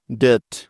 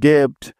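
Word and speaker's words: debt: silent থাকার দ্বিতীয় rule তাহলে ডি ই বি মিলে হয়ে গেল দে এবার দেখো সবার শেষে আছে থি তাই থি এর জন্য নিতে হবে থ সুতরাং ডি ই বি টি একত্রে মিলে হয়ে যাবে ডেট ডেট ডেট মানে হচ্ছে ঋণ কোনভাবেই এই শব্দটিকে ডেভড পড়া যাবে না ঠিক আছে তাহলে চলো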